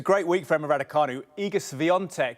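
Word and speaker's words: Iga Świątek: week for Emma ranu igus vont is the pronunciation I have but to be fair I'm not fluent in Polish so that's my best bet from what we what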